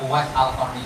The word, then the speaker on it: Uwais Al-Qarni: Bacanya Uwais Al-Qarni, jangan salah harokat. Ya, disukunin roh, nama Uwais Al-Qarni.